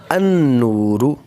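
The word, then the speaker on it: النور: The example is al nurun equals to an-nuru, an-nuru. You will see here al is written but not pronounced.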